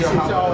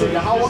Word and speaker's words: Yahweh: It's not like Yeshua, but you know how This is Yahweh. That's the correct pronunciation. There's no other names. It's Yahweh.